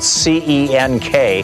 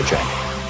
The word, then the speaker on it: Cenk: Cenk Uygur, the host of the Young Turks, his website, Cenk2020, is spelled C-E-N-K.